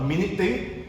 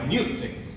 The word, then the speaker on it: minute: This is not a minute thing. This is a minute thing. Okay, this is pronounced as minute, which is a very tiny thing, very small thing.